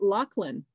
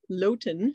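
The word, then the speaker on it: Loaghtan: the manx lachlan and yes you say it lachlan not loten so you can see how it's spelled there on the label it's not actually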